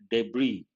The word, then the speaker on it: debris: and the other debris the letter s is silent debris separated from the seed